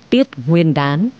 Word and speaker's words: Tiết Nguyên Đán: là buổi sáng sớm cho nên đọc đúng phiên âm phải là là tiết Nguyên Đán Tết này được tính